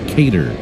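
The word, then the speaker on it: Keider: It's the first time the Braves have ever seen Kaylor Montero. First name is spelled K E I D E R and pronounced Kater.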